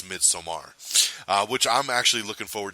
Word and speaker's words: Midsommar: you off, it's because the director himself said no, the film is pronounced Midsommar, but a lot of people are saying Midsummer. So I just want to state it for the record, it's Midsommar, which I'm actually looking